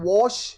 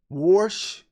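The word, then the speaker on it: Warsh: Is is is it not Walsh? Wash how you say his name. Wash. Is he not the one that's going to be doing the meeting tomorrow or you know whatever statement? Worsh. It's Worsh.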